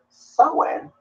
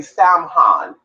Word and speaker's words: Samhain: English word second of law it is actually pronounced someone so even though spell s am h AI NS the lucky bunny says I'm gonna study stem Han and it's not pronounced that way and you